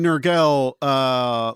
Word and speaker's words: Nurgle: it does say here that Nurgle, am I pronouncing that right, Nurgle?